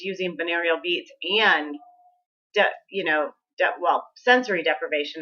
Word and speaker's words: binaural: Binaural.